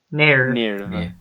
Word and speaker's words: NERV: But it's the fact that they say nerve in a weird way because it's spelled N-E-R-V. It's like nerve. Nerve.